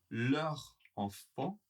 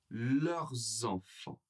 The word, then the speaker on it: leurs enfants: Vous entendez la différence ? leurs enfants, leurs enfants. Le S sera prononcé avec la liaison, il sera connecté.